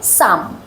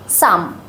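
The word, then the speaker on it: some: এস ও এম কিন্তু এটার উচ্চারণ হবে সাম সাম কারণ এখানে আ সাউন্ড আছে এখানেই সিম্বলের ইম্পর্টেন্স সিম্বল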